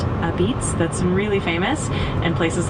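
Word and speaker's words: apizza: Uh they have a unique style called a pizza, pronounced a beat, that's really famous, and places like Frank Pepe Pizzeria and Abolatana are iconic.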